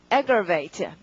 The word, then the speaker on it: aggravate: 강세가 앞이네요. 맨 처음에. 발음 어떻게? aggravate.